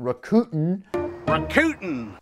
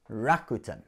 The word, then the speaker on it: Rakuten: kind of thing is rakuten no not recruiting but rakuten i went all the way to japan to find out how to pronounce that but anyway that's another